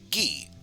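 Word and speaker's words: ぎ: This is gi, or gi. You obviously pronounce it as gi.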